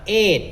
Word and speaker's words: eight: เ ป็ น อ่ า น ว่ า eight น ะ เ อ า เ สี ย